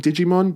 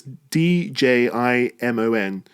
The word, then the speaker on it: Djimon: I feel like I'm making fun of his name if I call him Digimon, but it's Djimon. Digimon Hansu.